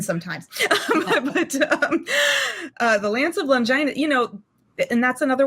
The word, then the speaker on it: Longinus: It's the Lance of Longinus. Longinus. I always want to say Longinus. I did, yeah, and I need to see things written sometimes. But the Lance of Longinus, you know, and that's another one of those great examples.